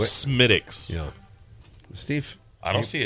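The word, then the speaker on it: Smithwick's: You said it wrong. Yeah. What are you talking about? By the way, wait. Smittix.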